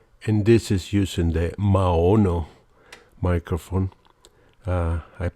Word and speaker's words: Maono: other microphone now and this is using the ma'ono microphone I pronounce it right this time but uh yeah